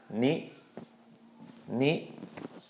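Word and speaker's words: นิ: So this is going to be pronounced ni, ni. Okay, ni, just real short, not drawn out at all.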